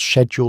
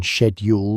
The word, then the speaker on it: schedule: The ability to pronounce shed schedule like a gentleman rather than schedule like a tradesman could mean the difference between acceptance and exile.